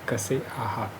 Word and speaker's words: कसे आहात: जिसको मराठी में कसे आहात ऐसे प्रोनाउंस करते हैं।